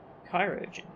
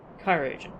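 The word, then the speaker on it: Chirurgeon: kai region without delay cairo okay i've been pronouncing that wrong chirogen oh we were so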